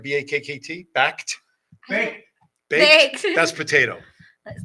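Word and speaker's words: BAKKT: Backed Theater, B-A-K-K-T. I hope that's how it's pronounced. Is that Planet Hollywood. yeah? Yeah. Is that, did I pronounce right? B-A-K-K-T. Backed. Baked.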